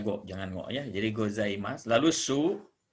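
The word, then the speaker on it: ございます: gue Jangan goyah jadi gozaimasu lalusu Jadi kalau sub di akhir kalimat punya lemak Jadi dibacanya gozaimasu ditulisnya gozaimasu jadi Ohayo gozaimasu itu sapaan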